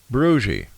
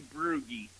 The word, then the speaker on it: Brugge: I will say Brugge. Very, very close. Very close. It's actually Brugge. Ah. German.